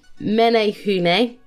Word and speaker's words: Menehune: first one is the menehune minho well kind of pronounced like menehune from what i understand